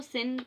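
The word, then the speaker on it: sin: तो उस चीज़ के लिए मैं जो है वो कोशिश कर रही हूँ कि उसको सिन पढ़ा जाए तो वो थोड़ी बहुत आपको मेरी वीडियोस में मिलेगा, आप सिन ही प्रोनाउंस करें।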